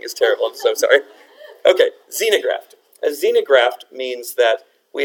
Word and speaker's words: xenograft: that right I have has anyone heard of a xenograft X e and o z no graft it's not pronounced with a click that would be pretty cool wouldn't it by clicking is